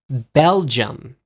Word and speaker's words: Belgium: do you say better in english you say belgium belgium belgium belgium i said belgium no you